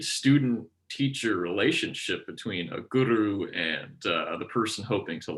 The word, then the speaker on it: guru: interesting concept of the guru and you do pronounce it with a bit of a rolled r like that i know that because